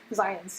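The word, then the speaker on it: Zajonc: This is a very unusually spelled name because Zients is the way you're supposed to pronounce it.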